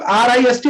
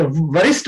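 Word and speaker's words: wrist: तो इसमें भी हम लोग RIST रिस्ट बोलेंगे, वरिष्ठ नहीं बोलेंगे, डब्ल्यू साइलेंट, ठीक है ना।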